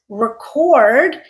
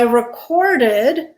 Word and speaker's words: record: Our first word is record. The way I said it, record, it is a verb. I recorded my song at the studio. But I can also pronounce this word as record. And when I use it that way, record, it immediately becomes a noun.